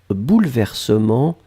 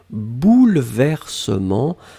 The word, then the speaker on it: bouleversements: substantif au pluriel bouleversements alors attention on écrit vraiment eu après le elle même si phonétiquement il n'existe pas vraiment on ne dit pas bouleversement mais on prononce bouleversement mais le 1 doit être là et bien sûr le